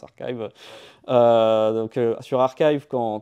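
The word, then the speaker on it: arXiv: publications donc archive arive ça s'écrit effecive mais ça se prononce archive euh donc sur archive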